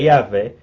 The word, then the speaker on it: Yahvé: Yahvé é um nome impronunciável em hebraico, tá? Essas vogais foram acrescentadas depois. Na verdade, são só consoantes. H, W, então fica um som tipo um sopro, né?